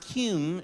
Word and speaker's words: cume: no no no no it's pronounced cume short for the cumulative folder what we call the